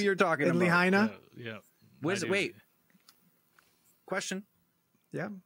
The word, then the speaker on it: Lahaina: Well, he's the Maui or the, how do you, Leana? How do you say it again? Lahaina, the Lahaina city police chief.